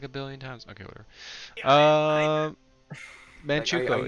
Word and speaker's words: Manchukuo: How have you not learned to pronounce that? I've said it like a billion times. Okay, whatever. Manchukuo.